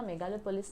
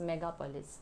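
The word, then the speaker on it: megapolis: I guess मैंने इसका pronunciation wrong किया था, मेगालोपोलिस नहीं, इट इज़ मेगापोलिस।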